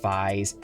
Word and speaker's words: Faiz: it's written as 555s but in Japan it's pronounced FES I'm pretty sure it's some sort of word